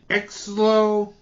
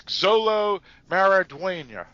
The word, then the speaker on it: Xolo Maridueña: And Exlo. Actually, that's Xolo Maridueña.